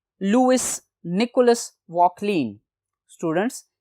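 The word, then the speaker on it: Vauquelin: अब स्टूडेंट्स, इसको डिस्कवर किया था फ्रेंच केमिस्ट ने, लुइस निकोलस वॉकलीन। स्टूडेंट्स, ये फ्रेंच प्रोनाउंसिएशन है, वॉकलीन होगा। 1797 में क्योंकि ये रिएक्टिव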